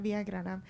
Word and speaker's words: Villagrana: Villagrana, okay. I do not know when a G is pronounced and when it is not. It's Thank you. rolling those R's is a trick.